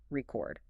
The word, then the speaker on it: record: Think about the word record, R-E-C-O-R-D. If it's a verb, I need to record this, the stress is on the second syllable, record. But if it's a noun, I'm listening to a record, the stress is on the first, R-E-C-O-R. Oh, I see. If you stress the wrong syllable, you literally change the meaning of the word.